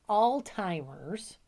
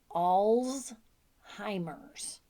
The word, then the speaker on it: Alzheimer's: the hardest pronunciation right like Alzheimer's not Alzheimer's it's all's hymers Alzheimer's anyway just wait until we